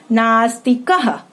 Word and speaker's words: नास्तिकः: नास्तिक, नास्तिकः। अब अंत में क्या यहाँ पे आ गया है? विसर्ग चिन्ह आ गया है, तो उच्चारण क्या बोलेंगे हम लोग? नास्तिकः।